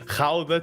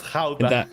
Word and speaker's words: Gouda: And of course, Gouda cheese, going to Kinderdijk, on your feet.